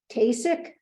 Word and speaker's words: Tkacik: Kasich?